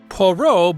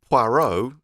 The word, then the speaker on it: Poirot: Poirot boards the train with Boque.